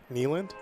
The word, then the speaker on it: Keeneland: They went to how do you pronounce it? Keeneland? Yeah, Keeneland.